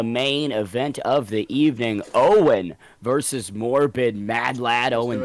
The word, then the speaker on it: Eoin: I believe you called me, bro. It's Eoin.